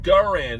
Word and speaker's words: Garand: americans is like we got us an m1 grand rifles over here no it's it's pronounced garand there's a ga oh it's it's it's garand